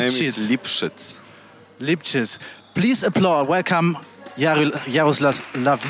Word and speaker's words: Lipszyc: Can you pronounce Lipszyc. It? Lipszyc. My name is Lipszyc.